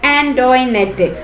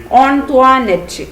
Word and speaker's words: Antoinette: Most of them pronounced it ആസ് ആന്റോയിനെറ്റ്. കൂടുതൽ ആൾക്കാരും എന്താണ് അവളെ വിളിക്കുന്നത് ആന്റോയിനെറ്റ് എന്നൊക്കെയാണ് വിളിക്കുന്നത് അല്ലെ. ബട്ട് കുഞ്ഞിച്ചിരുത learn from ആന്റോണിറ്റ that the name ought to be pronounced ഓൺത്വാനെറ്റ് അല്ലെ. അപ്പൊ ഇതാണ് കറക്റ്റ് അല്ലെ.